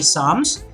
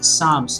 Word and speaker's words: Psalms: poetry collection, Latter Day Psalms. Remember, this is Latter Day Psalms. The P is silent here, just like you have it silent in the word psychology, okay, or psychiatrist or something like that.